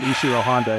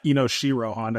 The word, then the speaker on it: Inoshiro Honda: Also, Turner, it's not Ishiro Honda, it's Inoshiro Honda, because they got his name wrong for the 5th time.